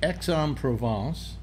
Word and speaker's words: Aix-en-Provence: Everybody calls it Qatar, and it's actually pronounced Qatar, I believe. Yeah? Yeah. Yeah. And it's Ez, and it's Aix-en-Provence.